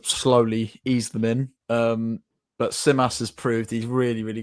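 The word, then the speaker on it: Tzimas: Because you were giving some praise to your new Greek striker, who I can't pronounce his name. Could you help me out? Simas.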